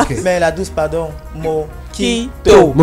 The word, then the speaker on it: mojito: Mojito. Pas mosquito. Non. Voilà. Toi, tu as bien prononcé, hein, qui dit mojito. Voilà. Il y en a même ici. Ça s'écrit mojito. Exactement, M-O-J-I-T-O. Mais ça se lit mojito.